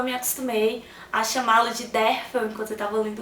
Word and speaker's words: Derfel: O livro é narrado em primeira pessoa, em forma de relato, pelo monge Derfel, que se pronuncia Dervel, mas como eu me acostumei a chamá-lo de Derfel enquanto eu estava lendo o livro, eu vou me referir a ele assim.